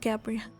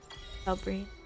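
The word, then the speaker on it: Galbrena: This whole time I said Gabrielle. is Galbrain. Galbrain.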